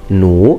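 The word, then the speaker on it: 弩: Now, as you can see, I have already mentioned the crossbow, which in Chinese is pronounced nu, because I thought that there was a very interesting piece of information.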